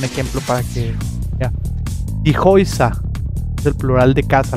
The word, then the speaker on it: Häuser: Die Häuser es el plural de casa, las casas. Die Häuser no se dice die Hauser. Die Häuser. Häuser. Entonces esta A junto a la U se pronuncia como O-I.